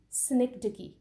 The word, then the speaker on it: synecdoche: Number three, synecdoche. How would you pronounce it?